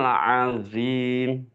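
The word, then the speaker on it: عظيم: Anin naba'il azim. Anin naba'il azim. Bagus. Sekarang Mas Ramadan ya. Ayat yang kedua. Jangan lupa ujung lidah nempel pada ujung gigi depan atas ketika pengucapan dho.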